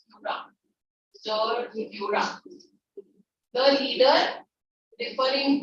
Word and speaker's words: Führer: Actually, that's pronounced as Führer.